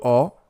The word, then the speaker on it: ho: In all cases, we're not pronouncing a single H. The H, as we said before, is always silent.